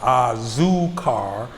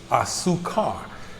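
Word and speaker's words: azúcar: a-z-u-c-a-r so with me i would always pronounce the z sound a zoo car whereas disease tend to make s sounds is it's a su car so when i would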